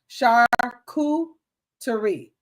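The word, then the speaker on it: charcuterie: Shakuterie shakurerie shakurerie.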